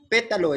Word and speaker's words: pétalo: pétalo pétalo a pétalo pétalo es una palabra esdrújula su acento está en la no está en la última tampoco en la penúltima sino en la antepenúltima entonces pétalo tiene tres